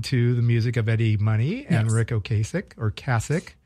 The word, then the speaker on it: Money: It's pronounced Money.